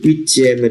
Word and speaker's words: huitièmes: Các bạn hãy chú ý cách phát âm chữ H trong chữ huitième là H aspiré. Chúng ta không được nói vần và phải đọc là les huitièmes de finale.